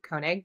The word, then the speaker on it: Koenig: I'm Koenig, Koenig, Koenig, but it's pronounced Koenig.